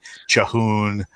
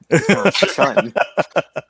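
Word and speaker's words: Chhun: What do you think about some of the Kellhorns out there who are pronouncing it Chahoon or Chun? Well, they're just wrong. Shun. Go back to first grade English.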